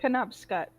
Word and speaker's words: Penobscot: pronounced. Penobscot.